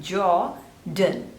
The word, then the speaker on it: Jordan: So jaw, the stress is on the first syllable, Jordan, Jordan, Jordan, Jordan.